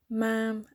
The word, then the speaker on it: ma'am: who've done something special ma'am is spoken to rhyme with jam nice this is begin